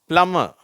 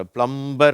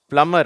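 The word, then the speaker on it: plumber: plus plywood play PM பிளமர் சரியா இது வந்து சில பேர் தப்பா வச்சிருக்கறாங்க பிளம்பர் அப்படிங்கறாங்க அந்த பி வந்து இங்க சைலன்ட் அதனால பிளமர் அப்படின்னு சொல்லணும் ஓகேவா அடுத்தது இங்க பார்ப்போம்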